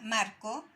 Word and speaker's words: marco: Y si vemos esta palabra, marco, es marco, ¿ya? Se marca en esta sílaba, que sería el número 2 en este caso, ¿ya?